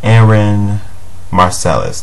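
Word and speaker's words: Aaron Marcelus: was Aaron how do you say his name Aaron marcelis there you go Aaron marcelis and he he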